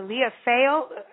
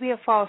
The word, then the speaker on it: Leah Falls: Shannon Deering, the author of The Gathering, Book 1 of the Leah Fale Well, it's Leah Falls. She's going to get me in trouble. I'm not saying it right.